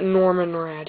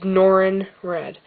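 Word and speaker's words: Norrin Radd: No, he's not Norman Rad. He's Norin Rad. N-O-R-A-N-R-A-D. Like, rad, bro.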